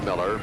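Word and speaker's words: Mueller: His name is spelled M-U-E-L-L-E-R, 6'3" junior, pronounced Miller.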